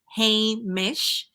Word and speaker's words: Hamish: to say and I can give you the pronunciation it's Hamish um I said well it is the name